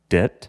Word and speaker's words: debt: that how do you say debt debt so you just completely disregard that b what about django the